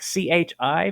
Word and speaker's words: chi: not some script X this is the letter Chi in Greek CH I pronounce Chi and since this is